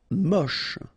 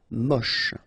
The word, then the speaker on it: moche: Moche. Don't insist on the final E, then you get the last sound is sh. Moche.